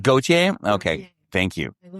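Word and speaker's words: Gotye: Gotier. Go. It's pronounced Goautier.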